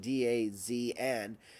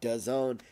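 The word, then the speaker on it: DAZN: made another announcement today does own as how you pronounce it Daz and but does own is what Ariel Helwani said it's pronounced and Bellator have announced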